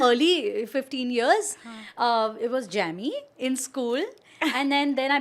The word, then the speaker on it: Jamie: It's actually Jamie. Yeah. But my childhood years, growing up years, my parents mispronounced it and they called me Jamie.